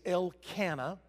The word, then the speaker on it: Elkanah: there for a little while but the correct pronunciation is el cana el cana married the love of his life